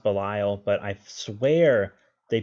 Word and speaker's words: Belial: see zero and Belial again I know it's pronounced Belial but I swear they pronounce it be all in Japan and that's why it's always stuck